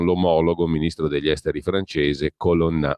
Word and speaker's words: Colonna: ministro degli esteri francese Colonna, o Colonna per dirla all'italiana.